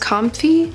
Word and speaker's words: Comfee: sending this to me I believe it's pronounced comfy it's like coffee but with am so really thankful thank